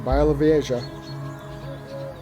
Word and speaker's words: Białowieża: Just another day in Białowieża.